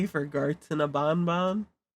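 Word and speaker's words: Banban: ban ban is that I think the official pronunciation is Bon Bon but in the game itself they switch between saying ban ban and Bonbon canonically they switch between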